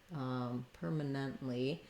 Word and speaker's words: permanently: So in permanently, we have first syllable stress, permanently. And we have the tight vowel. So we'll see the sound. Letter A is going to be a vowel schwa and sound like a, permanent.